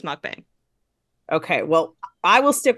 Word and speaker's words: mukbang: I'm probably offending people I'm pronouncing it wrong but it should be mukbang but for all intens for this film it's mukbang okay well I will